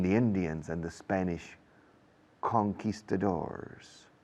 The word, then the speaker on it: conquistadors: It's about the fight between the Indians and the Spanish conquistadors. Fijaos cómo lo digo. Es una palabra española convertida al inglés, mal pronunciada, pero a lo inglés, conquistadors, against the Araucanian Indians in what is today Chile.